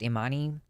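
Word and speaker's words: Imane: I I I think her name is pronounced immani immani khif she wins her first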